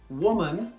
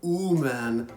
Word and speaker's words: woman: First, I hear a lot of students say ooman or weeman. They don't get that w sound at the beginning, so you need to make sure you make a w sound.